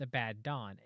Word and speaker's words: Abaddon: The Hebrew form Abaddon is pronounced Abaddon, and it's very weak associations unless he is the Antichrist, right?